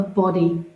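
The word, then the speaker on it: bodhi: evolving you become a body awakened person i might say body it's a sanskrit word it's spelt b-o-d-h-i not body as in our physical body continue to step into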